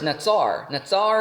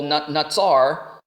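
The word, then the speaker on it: נצר: So I think Solomon is using a little bit of rhyme here because the word watch over is natsar, natsal. So in the Hebrew, it rhymes.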